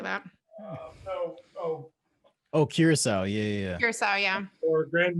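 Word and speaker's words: Curaçao: Oh, Curacao.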